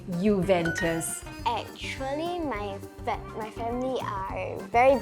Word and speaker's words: Juventus: I said Juventus. Yeah, it's terrible, but you're supposed to say Juventus.